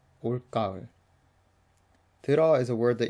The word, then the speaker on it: 올가을: 올가을 is similar to 올겨울 that we saw before in that it has a different pronunciation from the way that it's spelt. Just keep in mind that it has a hard G.